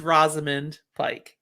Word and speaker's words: Rosamund Pike: and we've established this i think it is rosamund pike yes i think i've never opened my second